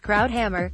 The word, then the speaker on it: Krauthammer: regrets a star of page and screen drive Krauthammer pronounced Krauthammer was one of the highest profile commentators of